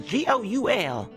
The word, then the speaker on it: Goul: and then my last name is Goul. It's like ghoul without the H, you know, like ooh, that kind of ghoul, but without the H.